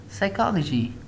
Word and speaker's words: psychology: And the next one is like we have got a P, an S after what? After a P, so we pronounce it like psychology, psychology. There we don't have any S or N, so pen.